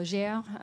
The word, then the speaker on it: Gaia: Yes, so my name is Gaia, or Gère, if you want to pronounce it in French.